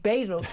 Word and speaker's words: Badenoch: But after one of my colleagues on the sister radio station Times got in very big upset about Robert Jenrick apparently mispronouncing Kimmy Badenoch's name as Badenoch, and apparently that makes you sexist.